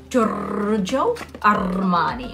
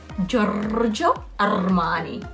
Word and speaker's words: Giorgio Armani: We say it like that, but it's actually pronounced Giorgio Armani, okay? Make sure that okay? Giorgio Armani.